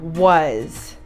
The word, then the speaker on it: was: We're going to learn the site word was. Read it with me. Was. Let's read it again. Was. This word is spelled W A S.